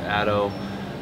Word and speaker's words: ATTO: hd tune we use atto which is i think pronounced ato we've also used crystal